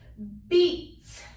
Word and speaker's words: beat: So this first one, I have 2 vowels, E and A. The rule says the first vowel is long. So I put the long sign. I'm saying this says E, and the second vowel is silent. I cross it out. The word is beat.